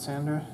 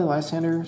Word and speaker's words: Lysander: discard Pile in my hand I'll get back Leandra I don't know how to pronounce his name Leander okay you were close then to play Lysander switch one of my opponent's uh bench Pokemon